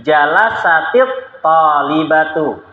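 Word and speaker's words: جلست الطالبة: Sukun bertemu dengan alif lam, maka cara membaca sukunnya dengan kasroh. Harusnya kan bacanya jalasat at-talibatu. Dibaca jalasat karena pelakunya mu'annas. Tapi kalau mau digabung, maka caranya tak sukunnya dibaca kasroh. Maka bacanya jadi jalasatit talibatu.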